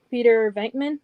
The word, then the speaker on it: Peter Venkman: I'll give away, spoiler alert for that video, GameStop exclusive Peter Venkman.